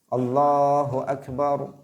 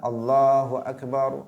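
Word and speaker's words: الله أكبر: Allahu akbar Allahu akbar mestinya seperti itu yang panjang hanya pada lam di lafzul jalalah Allah sedangkan yang lain tidak boleh dipanjangkan tetapi kita sering mendengar seseorang yang mengumandangkan adzan karena tuntutan lagu menurut dia tuntutan lagu kemudian dia memanjangkan huruf yang seharusnya tidak dipanjangkan misalnya memanjangkan huruf ba nya dia mengatakan Allahu akbar Allahu akbar Misalnya ini adalah sesuatu kekeliruan yang sangat fatal karena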